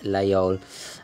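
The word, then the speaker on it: Laguiole: lay all knife or some parts of France pronounced actually with the G there's a they can't really decide themselves but I believe most the predominant pronunciation is lay on and I've you know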